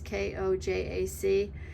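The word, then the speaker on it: konjac: And I did buy some of that koyak. I don't know how to pronounce it. It's Kojac.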